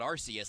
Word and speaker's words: Arceus: I've heard it pronounced different ways. Yeah, Bestie's called it Arceus, like that whole episode. They're 100% wrong. It is Arceus.